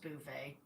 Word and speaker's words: Beauvais: I think it's pronounced Beauvais.